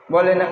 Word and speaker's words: ب: কি হরফের নাম কি বলেন বা বা বা বা কোন জায়গা থেকে উচ্চারণ হয় দুটা ঠোঁটের মাঝখান হইতে তাই না দুটা ঠোঁটকে মিলিয়ে তাই না বলেন বা বা বা